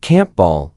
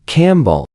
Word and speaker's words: Campbell: But Scottish people don't say camp ball when they meet someone called Campbell. They say Campbell.